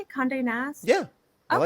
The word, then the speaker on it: Condé Nast: Condé Nast?